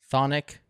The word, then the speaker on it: chthonic: I'm going to do thic thic is how you pronounce it is that right thonic you got it or super thonic if